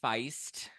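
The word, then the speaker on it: Faist: some examples are are Mike Feist fa fa Feist and Josh oh it is Feist okay I pronounce that correctly Josh o Conor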